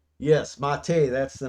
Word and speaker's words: MATE: thank you Bob and it's spelled like it would read meate but it's mate it's French yeah it's you got